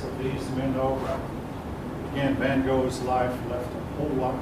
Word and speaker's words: van Gogh: the more famous paintings of the time were van gogh i've heard that name pronounced van gaal picasso now van gaal painted a whole lot